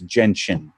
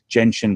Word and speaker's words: gentian: on the video and said it's gentian je n TI j en TI m gentian blue so I'll changed my